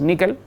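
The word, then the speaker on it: N1QL: presentación que se llama n 1 q él lo pronunciamos níquel ay que es muy importante decir níquel y es un sql una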